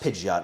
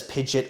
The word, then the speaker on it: Pidgeot: But it's pronounced Pidgeot, not Pidgeot, for those of you who know.